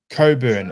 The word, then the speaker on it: Cockburn: playing in Ireland and his last name is Cockburn. Coburn, it's pronounced, but on the back of his shirt is Cockburn.